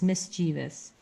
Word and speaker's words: mischievous: it is people pronouncing it differently but it is spelled vou s not vio us so it's mischievous its ray is ray looking it up he